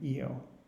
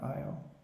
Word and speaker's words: Io: And again, the largest four are the Galilean ones: Europa, Callisto, Ganymede, and Io, or Io, however you want to pronounce it.